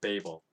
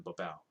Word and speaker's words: Babel: Tower of Babel, and I used to think that was weird,